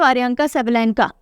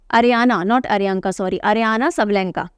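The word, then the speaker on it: Aryna Sabalenka: अगर हम विमेन की बात करें मैड्रिड ओपन की, तो अरियांका सबलेंका, अरियाना सबलेंका, मेरा प्रोनाउंसिएशन रॉन्ग था, अरियाना सबलेंका हैज़ one Madrid open.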